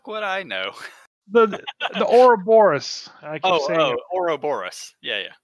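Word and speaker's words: Ouroboros: again uh I keep I keep saying the name wrong how the would I know the the aura Boris yeah yeah or Boris okay I said it right this time yeah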